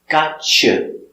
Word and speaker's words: gotcha: With a T, with a Y sound, the y, t, together, ch, gotcha, gotcha. So it's, you got your backpack?